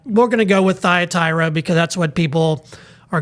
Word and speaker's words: Thyatira: In Greek, it's actually Thyatira. Thyatira. That's the way that the Greek reads, but we're going to go with Thyatira because that's what people are going to be able to pronounce most.